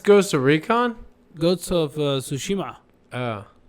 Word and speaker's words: Tsushima: Ghosts of Tsushima. Oh. Tsushima. I like how much you're able to pronounce names correctly.